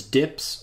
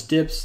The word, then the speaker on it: dp: In material design is commonly pronounced as dips, which is the abbreviation dp here written as dp, and pronounces Dibs, they're flexible units that scale to have uniform dimensions on any screen.